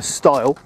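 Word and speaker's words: stile: just crossed a young style I was corrected by one of my friends for mispronounced EI ting it is sty because a star is a pig sty isn't it or a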